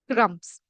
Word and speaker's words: crumbs: What do we call crumbs? The B is silent here.